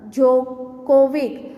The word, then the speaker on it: Djokovic: Okay, here the first picture is of Novak Djokovic. In his D is silent.